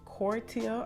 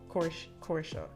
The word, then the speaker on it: Cortia: want producer name wrong is it cortia or corsa corsa it's c-o-r-t-i-a um who else yannick